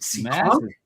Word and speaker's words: Seekonk: a hello from Massachusetts out in, is it Seekonk?